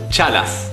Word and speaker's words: chalas: take your chalas so it's pronounced cha as in Cha Cha Cha L as in Las Vegas but again the S at the end is very soft number seven I think